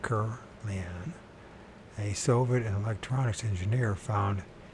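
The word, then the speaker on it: Kirlian: Semyon Kurlian, that's how to pronounce it right, Kurlian, a Soviet electronics engineer,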